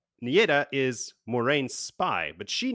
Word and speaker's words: Nieda: Its proprietor is Nieda, I pronounce it. How would you do it? Sure. Vili, let us know how it's pronounced. Nida. Nida!